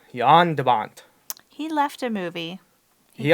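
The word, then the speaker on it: Jan de Bont: directed by yonder bond I had to research the pronunciation Dutch way to say his name because it's written if you got a butcher the American English such and Avant but it's it's Yan Yan de Bont he left a movie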